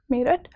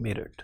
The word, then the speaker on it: Meerut: sophia girl school in merit yes sir okay then you're probably the right person to ask it why merit is spelled as m-e-e-r-u-t it cannot be the spelling of merit you understand that so